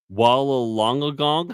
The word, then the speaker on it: Wollongong: That town south of you, Wollongong. How do you pronounce that?